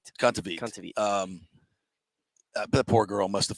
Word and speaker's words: Kontaveit: Kontaveit.